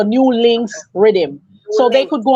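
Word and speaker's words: Nulinkz: audience it spelled it's spelled n-u-l-i-n-k-z so new links Rhythm so they could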